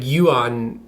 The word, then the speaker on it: Johan: butchering his name like it's spelled Johan but but like when you pronounce it it's like Yuan Yuan or something like that no Yuan Yu oh yeah it's pretty